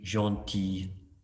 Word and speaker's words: gentil: And the last one, je suis gentil. Just listen to the pronunciation.